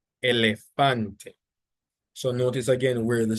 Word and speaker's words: elefante: Then you have elefante. So again, ends with a E. So the stress is on the penultimate syllable.